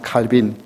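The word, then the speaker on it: Calvin: 우리 장로교의 시조라고 부를 수 있는 잔 칼빈, 프랑스 본토로 발음하면 칼뱅이라고 부르는데 그분 때문에 제네바의 이 시계가 공업이 발달되었습니다.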